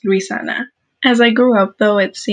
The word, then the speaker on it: Luisana: Little four-year-old me would tell my teacher, my name is not Luciana, it's Luisana.